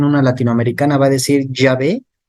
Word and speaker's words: Yahvé: Ahora, fundamento del por qué el tetragrama YHWH se pronuncia Yahvé. Vamos a verlo. Un dato histórico es que los samaritanos son una parte separada del pueblo judío, que ya desde el año 875 a.C., por ciertas razones, ellos sí pronunciaban el tetragrama. Ahora, ¿cómo insertaban las vocales? Quedaba prácticamente como Javé, Yahvé.